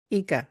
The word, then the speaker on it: IKA: us exactly what Inca is how do I pronounce it correctly EA eeka oh I did say it correctly tell us